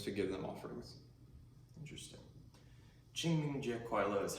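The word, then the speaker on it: 清明节快乐: Qingming Jie Kuai Le is how you say Happy Qingming Festival in Chinese.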